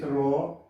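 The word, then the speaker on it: rho: as row is called as it should be pronounced like this row it is called as resistivity what it is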